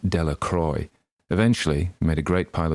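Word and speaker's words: Delacroix: and Harry Jones and Dicky dequa the villagers pronounced his name deac Croy eventually made a great pile of stones in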